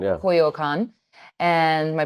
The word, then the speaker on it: Coyoacán: artisan and vendors and this little town called Coyoacan. Coyoacán, yeah. Coyoacan. And my pronunciations are still quite off, but we went.